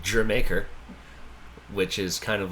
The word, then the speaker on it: D'yer Mak'er: It reads like dire maker. It's actually pronounced Jamaica, which is kind of